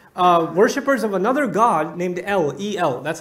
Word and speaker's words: El: But the people of Canaan, the Canaanites, they were actually worshippers of another god named El. That's how it's pronounced. El.